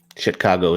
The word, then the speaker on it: Chicago: no, Chicago. Chicago is the correct pronunciation.